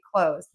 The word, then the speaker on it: clothes: If you just say clothes, I'm wearing new clothes today. Then everyone is going to understand you. So just end this word with a Z sound.